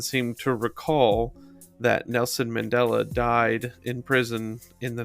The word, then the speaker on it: Mandela: I would say Mandela, because the Mandela effect is actually named for what I said earlier.